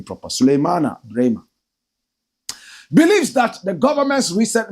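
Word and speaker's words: Sulemana Braimah: Let me pronounce the name proper. Suleimana Brema believes that the government's recent measures against the illegal small-scale mining Galamsey menace will not yield any results.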